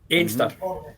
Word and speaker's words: Anstruther: He stopped for breakfast in the prom, and then he went to the famous chippy at Anstruther, as we cry Anstruther. Einster.